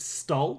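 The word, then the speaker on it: STOL: tol stand for spa it's an acronym so it's pronounced stall hmm somewhat turbulent over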